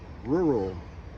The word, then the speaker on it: rural: And you can break it down further, break it down by syllables. Ra, let's see over here. Ra, oo, roo, ra, o, roll, rural.